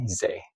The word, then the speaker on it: Ysaÿe: So I might try to like start pronouncing his name a little more closely to Jacques Say's pronunciation, because I really do think that that's the appropriate way to pronounce his name. So Ysaÿe.